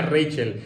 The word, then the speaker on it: Rachel: Pone Rachel, así se escribe, pero yo creo que se pronuncia Rachel. Espero que lo esté diciendo bien.